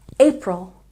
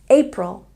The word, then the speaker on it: April: April has a stress on the first syllable. April, April.